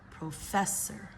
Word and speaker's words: professor: So here we've got the word professor. Professor. We're going to stress the second syllable, right?